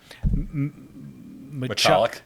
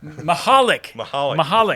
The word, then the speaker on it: Machalik: He is very excited about what he can do with this offense, especially with Ryder Machalik? No, he told me how to say this. Mahalik. The C is silent.